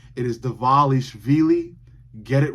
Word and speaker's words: Dvalishvili: UFC, many people within the UFC, still cannot pronounce this guy's name right. It is Dvalishvili.